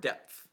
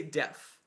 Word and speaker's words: depth: I hate the word depth depth is a word that I hate to pronounce depth depth depth because I always say death and that's not what is its depth the depth